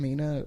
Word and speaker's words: Mina: Mina Loveberry. It's spelled like that.